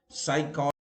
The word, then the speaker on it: psychology: Where P is silent, pneumonia, psychology.